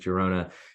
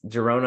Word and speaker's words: Girona: I always forget how to pronounce the G in Spain with Girona.